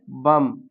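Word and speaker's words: bomb: इसी तरह बम। इसी तरह क्या पढ़ेंगे? डम। अब ये जो बी दिया है ये साइलेंट रहेगा।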